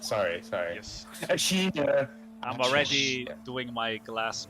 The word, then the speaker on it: Ashina: The land of Ashina. Completely overwhelmed by fucking terrorists. Usually in the Nippon language, I think it's the first syllable of the word that has the emphasis. Yeah, Ashina. Sorry. Yes. Ashina.